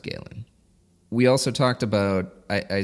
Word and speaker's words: Galen: the second correction that I've got is the pronunciation of Galen which you gave me crap for it is in fact Galen that's how you say it I don't recall